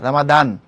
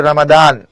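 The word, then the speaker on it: رمضان: এরকম আমরা রমজান বলি এটা আরবি উচ্চারণ রমজান না রামাদান ওকে এরাবিক যে প্রোনাউন্সিয়েশন হচ্ছে রামাদান উতমান এমন বলা হয়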